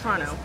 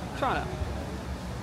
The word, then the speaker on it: Toronto: It's Toronto. Toronto. You don't pronounce the T, and the first T is like a CH. Yeah. Toronto.